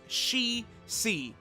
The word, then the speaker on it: Shisui: And it does seem to me like what they say is she, as in like girl, like her, she, and then just literally C, the letter C. So it looks like it's Shi-C.